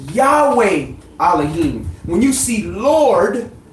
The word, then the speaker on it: Yahweh: all caps that means the word there was Yahweh yah hey la hey or some pronounce it yahuwah or yahwah or anyway or however you want to pronounce it but is yad